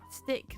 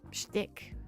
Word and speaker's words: shtick: Plus, they've completely ruined their company image with that whole like AI first stick that they did. Oh, shtick. Sorry, I didn't pronounce the sh in shtick.